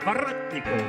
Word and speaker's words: Воротников: Руслан Воротников. Хотя он делает всегда мне поправку, что правильно эта фамилия произносится на англоязычный манер Воротников.